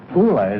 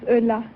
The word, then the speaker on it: Ulla: like to very much kula is that right I said how you pronounce it no my name is Ulla Ulla good luck thanks have